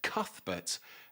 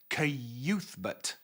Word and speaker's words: Cuthbert: It annoyed me when I found out, because I had been pronouncing his name in my mind as Cuthbert until Shimi, later on in the book, actually sounds it out and pronounce it as Cuthbert.